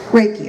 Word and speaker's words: Reiki: Reiki, I said it right the first time.